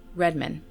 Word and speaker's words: Redman: Both are pronounced the same, Redmond.